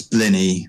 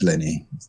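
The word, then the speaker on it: blini: that was German um it's BL that's that's blenny which is got a silent s on the end say it's spelled blenis but it's pronounced blenny it's like penis yeah my good friend Dennis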